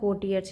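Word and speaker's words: courtiers: एंपरर bast out laughing तो यहां are silent होता है सीइंग द कोर्टियर्स यानी दरबारियों को देख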